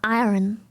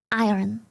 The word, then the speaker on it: iron: I keep saying iron, iron. It's I think it's pronounced. I think iron, iron. You don't really do the R, but like I'm gonna be honest.